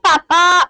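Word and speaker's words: papá: In Spanish, papa and mama is stressed on the last syllable.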